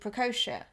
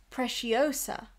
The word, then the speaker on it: Preciosa: um anne says hi i think they are pronounced like preciosa they're used on ballroom dresses and gowns they are like trowsky and um have all uh are almost as posh oh so precious so not precocia sorry about that um so